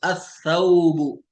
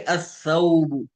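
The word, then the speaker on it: الثَّوْبُ: सा से जैसे असौबु, जैसे द क्लोथिंग, ठीक है, असौबु।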